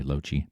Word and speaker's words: Lochi: It's @ryanlochie, r y a n l o c h i That's how you pronounce my name, by the way, Lochie.